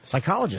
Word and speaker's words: psychologist: Is there another word that starts with a P that you don't pronounce? Psychologist.